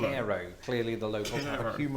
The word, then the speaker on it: Cairo: As I've just discovered, Cairo, Illinois is pronounced cool, Cairo.